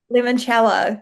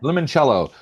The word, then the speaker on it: Limoncello: How do you pronounce that? Limoncello. Limoncello.